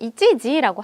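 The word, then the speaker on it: 一時: 이거 예를 들어서 한시라고 할 때는 읽는 방법이 조금 달라요. 이럴 때는 이치지라고 하거든요.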